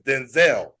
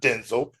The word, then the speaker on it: Denzel: It's Denzel. It is not Denzel. I don't care if you were Denzel Washington. It's Denzel.